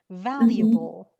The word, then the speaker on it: valuable: And Shirin, the pronunciation is valuable. Don't say valuable.